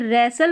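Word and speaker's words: wrestle: अब दूसरी चीज यहां पर यह जो डब्ल्यू आर है यह रेसल पढ़ा जा रहा है। इस डब्ल्यू जो है यहां पर साइलेंट है।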